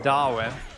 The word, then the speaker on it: Darwin: They can get you really in trouble if you do happen to emphasize the R. The city is spelled Darwin, but it said Darwin.